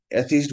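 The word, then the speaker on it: atheist: এখানে ইআই এটা খেয়াল রাখতে হবে, অ্যাথিস্ট বানানে উচ্চারণটা দীর্ঘইকার, থিস্ট, অ্যাথিস্ট। ইআই থাকুক আর আই থাকুক, উচ্চারণ হবে দীর্ঘ, এথিস্ট, বাট বানানটা হবে এক সময় ইআই, এক সময় আই।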